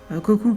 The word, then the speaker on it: Koku: Koku qui est un prénom très mignon quand on le prononce à la japonaise, mais qui devient tout de suite moche si on dit Koku.